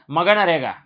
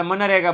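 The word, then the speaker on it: MGNREGA: મગનરેગા. બરાબર. આપણે મગનરેગા થોડું બોલાય એટલે આપણે મનરેગા બોલવાનું. શું બોલવાનું છે? મનરેગા. જી સાયલન્ટ છે એવું સમજી લેજો.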